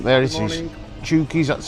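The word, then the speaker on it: Chouky's: to show you the name there it is chies that's how you say it always spell It Anyway some reason it says chies up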